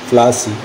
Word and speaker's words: Plassey: কিন্তু ইংরেজরা পলাশী উচ্চারণ করতে গিয়ে উচ্চারণ করত প্লাসি।